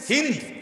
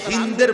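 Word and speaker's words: هند: নির্দেশে আবু সুফিয়ানের স্ত্রী হিন্দ বিন্তে উতবা যারে বাংলায় উচ্চারণে হিন্দা বলে হিন্দ মূলত তার নাম আকারটা নাই আর কি হিন্দ এই হিন্দ নামের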